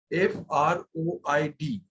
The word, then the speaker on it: froid: Because see the spelling, F-R-O-I-D. Froid is F-R-O-I-D. D at the end of a word is pronounced. It is not pronounced. So we have to pronounce froid.